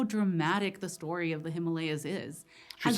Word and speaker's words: Himalaya: Reveals just how dramatic the story of the Himalayas is.